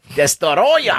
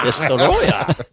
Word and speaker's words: Destoroyah: If you pronounce it the way it's phonetically spelled. Good pronunciation. Destoroyah. Destoroyah.